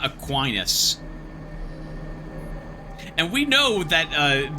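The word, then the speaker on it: Aquinas: I like that they pronounce these things differently, cuz I would pronounce it Ainus, too, not Aquinus.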